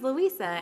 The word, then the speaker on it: Louisa: so as you know my name is Louisa and it kind of rhymes with pizza but not really but that's how I